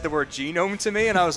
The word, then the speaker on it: Genome: For some reason, everyone seems to think that the race that Zidane is pronounced genome, after a Is it not? after a genome. Since I was a child, I've always called it a gnome.